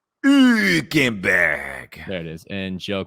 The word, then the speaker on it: Hülkenberg: Hülkenberg.